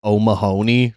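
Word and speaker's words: O'Mahony: same name as me it's pronounced omahony like if you think of like a a fat Boston cop is probably called oh Mahoney and it's the bar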